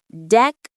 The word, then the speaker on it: decorate: The stress is on the first syllable. Deck. Say it with me. Decorate.